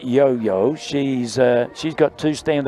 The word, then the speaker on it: Johanna: nickname it is now yo yo yo yes she's usually got the ball on the string I thought looks looks like Johanna growl when it's written on paper but pronounced yo-yo yup has Swedish American